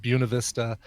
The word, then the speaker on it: Buena Vista: Buena Vista, which is spelled Buena Vista but pronounced Buena Vista, and Fairplay and Breckenridge and all these.